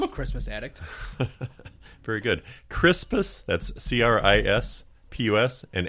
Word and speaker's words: Crispus: Crispus, that's Crispus, and Attucks, just like what's above our head where the insulation, except it's spelled Attucks.